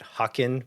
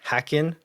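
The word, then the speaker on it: Häcken: I'm right uh and why I was calling calling it hakin but it's apparently hackin and so that's where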